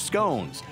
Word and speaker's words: scone: Then, of course, fresh scones, served with a lesson in British English. Scone as in gone, or rhymes with gone, and that's the pronunciation.